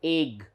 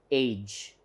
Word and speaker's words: age: still it should be it is not egg it is age so it's j sound